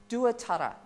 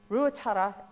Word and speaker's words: Ruatara: In the writings, you will find his name is Duatara, D-U-A-T-E-R-R-A, because back then, our language was not written. So the English at the time were actually writing our names phonetically. Ruatara is his name, and he was Te Hikitu.